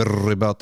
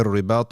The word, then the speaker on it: رِبَاطِ: You shouldn't roll your R's in tajweed. You don't say وَمِن رِبَاطِ الْخَيْلِ. No. وَمِن رِبَاطِ الْخَيْلِ تُرْهِبُونَ بِهِ عَدُوَّ اللَّهِ وَعَدُوَّكُمْ وَآخَرِينَ مِن دُونِهِمْ لَا تَعْلَمُونَهُمْ اللَّهُ يَعْلَمُهُمْ.